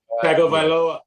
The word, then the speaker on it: Tagovailoa: Is Tulia, how do you pronounce his last name, Gary? Tagovailoa.